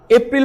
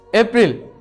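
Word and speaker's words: April: কি কি বলেন আপনারা জি এপ্রিল না দুর্ভাগ্যবসত এটাও কিন্তু হয় নাই এটা শুদ্ধ উচ্চারণ হচ্ছে এপ্রল কি এপ্রল কিপল এভাবে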